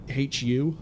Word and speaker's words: HU: I try to split the pronunciation for it. The Who, as opposed to the Who, is the Mongolian... Can you call them a metal band? I think they are metal. The Mongolian metal band HU, Who, even, as opposed to Who.